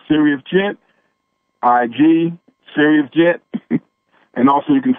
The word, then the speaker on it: Sirius: And we say, and when we say Serious, we mean spelled like the planet, S-I-R-I-U-S. Yes. Yes, yes, just like the star, yes. Not serious, yes, like important and like stern.